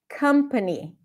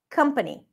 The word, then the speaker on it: company: above not above right even though there is an O here that's a cup sound company country another right I hear a lot of people saying company company not a mistake everyone will understand you but now you can see that the O actually doesn't represent the o sound but a company company company okay now the final